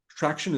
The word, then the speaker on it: Tractian: Traction, is that how pronounced? Traction, yeah.